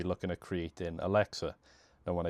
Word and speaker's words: lexer: Now when I say Alexa I mean a Lexer, not the Amazon device. So for those of you who aren't familiar with what Alexa is, you can look at the bottom of the screen to see how I'm pronouncing it as well. So it's Lexer.